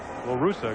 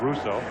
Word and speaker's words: La Russa: La Russa, excuse me, not Russo.